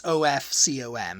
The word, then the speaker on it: Ofcom: I always just assumed it was OFF. Off, because you're pronouncing it like OFCOM. Yeah, I mean, it technically should be. Yeah. But it's OFCOM.